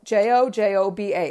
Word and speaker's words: jojoba: each is jojoba oil j-o-j-o-b-a it's pronounced jojoba and that one works